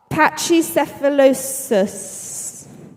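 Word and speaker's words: Pachycephalosaurus: patchy sephilosis.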